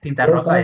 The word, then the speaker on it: Tinta Roja: Tinta Roja BCN. Am I pronouncing that right? Yeah, Tinta Roja, Roja.